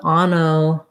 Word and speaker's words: onomatopoeia: Okay, so we have the stress on the second to last syllable P, onomatopoeia. Secondary stress on that first syllable. So the first letter O says ah, ana. Then the second letter O is unstressed, so it's a schwa. Ma, second A, also secondary stress is another ah sound.